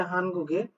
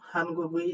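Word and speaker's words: 한국에: তা আসলে এটার উচ্চারণ অনেকে করতে পারেন অনেক রকম, হানগুগি এরকম উচ্চারণ করতে পারেন। তবে একটা কথা মনে রাখবেন, এই যে উইটা দেখতে পাচ্ছেন এই উইটার উচ্চারণের বেশ কিছু নিয়ম আছে যেটা মূলত আমার বেসিক ক্লাসে দেওয়া আছে। যারা এখনো পর্যন্ত বেসিক ক্লাস করেননি তারা সেখান থেকে দেখে নেবেন। এখানে উচ্চারণ হবে হানগুগে কোরিয়ার ইনসা অভিবাদনের বা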